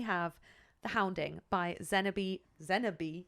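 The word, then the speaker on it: Xenobe: Zenabe, that is how you say their name.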